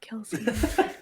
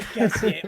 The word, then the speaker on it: Kelsier: be French, but absolutely no one has ever pronounced it Kelsié, not even the audiobook authors. So I don't know what It's you're just talking Kelsier. about. I call him Kelsier all the time.